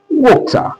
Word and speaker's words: water: If you look at this very one, in British English, it is pronounced as water. What did I say? Water. Water. You look at it. This sound, this all sound, this all sound, this all sound, which is that vowel sound, it has like two pronunciation. Sometimes it can be O, the O sound. You hear the O sound. Sometimes it can be up. Do you understand? Like in fork.